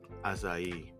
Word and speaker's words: Asahi: Is Asahi or Asahi? I say it asai. Asah. Yeah, I think I think that's the correct one because Japanese people don't really extend their eyes unless it's double.